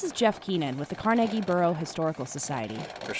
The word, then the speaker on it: Carnegie: The people in that town would have and still do pronounce it the way that Andrew Carnegie himself would have, the Scottish way.